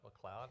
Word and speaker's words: MacLeod: The other looks like MacLeod or something like that, but it's also pronounced McLeod, and it means son of ugly.